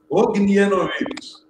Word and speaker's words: Ognjenović: Ognjenović.